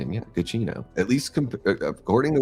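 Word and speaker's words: Giacchino: So when I see that name, it looks like it's a gacho or something like that. Uh but it is pronounced gacino. It's interesting. Yeah, gino.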